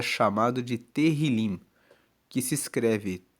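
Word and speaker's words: Tehilim: No livro original, na Bíblia em hebraico, o livro de Salmos é chamado de terilim, que se escreve T E H I L I M. E terrilim significa justamente louvores.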